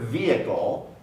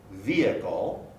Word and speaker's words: vehicle: the so the word vehicle vehicle although it's spelled with an h there's no h in the pronunciation vehicle however when we change